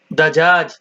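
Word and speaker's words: دجاج: ধনেপাতা ধনেপাতা উচ্চারণ কারফস কারফস ইংরেজি সেলারি স্যালারি উচ্চারণ কারফস কারফস উর্দু তরজমা আজওয়াই আজওয়াই আজওয়াই আরবি দাজা দাজাজ কুয়েতে দাজাজও বলে দিয়াইও বলে দিয়াই দাজাজ মুরগি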